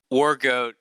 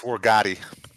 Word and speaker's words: Wargotti: Wargoat. I always say his name. Is it Wargoat? I think it's Wargoat. It's Italian. It's Wargotti. Wargotti.